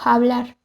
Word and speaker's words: fablar: Ejemplo de ello se encuentra en palabras como fincho, que se pronuncia como hincho, y fablar, pronunciado como hablar.